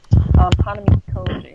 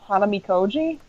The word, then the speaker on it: Hanamikoji: Hanami Koji is the only math one.